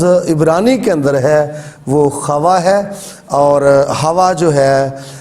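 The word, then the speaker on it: חוה: جو تلفظ بنتا ہے وہ ہے اس کا تلفظ خوا.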